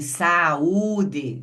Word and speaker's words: saúde: Então, veja quem saúde, são três movimentos porque são três sílabas. O que significa que o U é pronunciado separadamente do a.